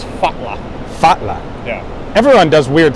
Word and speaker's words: falla: So when you see 2 L's, it's not L, it's TL. Okay. So to fall in Icelandic is spelled F-A-L-L-A. Okay. Looks like English fall with an extra A. Falla. Yeah, but it's fatla.